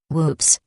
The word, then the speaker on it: WPPSS: on July 25th 1983 wppss pronounced with maob humor whoops announced that it was